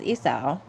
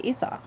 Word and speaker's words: Esau: but the sons of Esau. Now tell me, do you guys pronounce it Esau or Esau? Because all my life I thought it was Essa and then recently I heard that it's actually Esau.